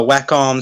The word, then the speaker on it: Wacom: is that it's uh wacom cintiq that that's i think that sounds illegal yeah it's whack with an m at the end yeah i know i